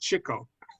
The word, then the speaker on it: Chico: It's pronounced Chico.